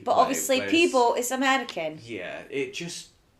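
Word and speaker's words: Peabo: Oh, is it Peebo?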